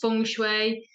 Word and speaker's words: Feng: I like yeah it's spelled Fen but it's pronounced fun but it's one of them then for things